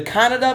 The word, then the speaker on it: Kannada: the Malayalam version, the Kannada version. Not to be confused with the country of Canada. This is Canada, the country. But it's spelled K-A-N-N-A-D-A and not C-A-N-A-D-A.